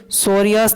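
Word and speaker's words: psoriasis: प सोरियास अथवा विश्व सोरियास दिवस मनाया जाता क्या मनाया जाता ब विश् सोरियास दिवस अग यहां पर पी साइलेंट था इंटरनेशनल फेडरेशन ऑफ सरा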